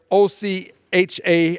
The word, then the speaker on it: OCHA: coordination of humanitarian Affairs OC ha I will pronounce it Ocha says as of early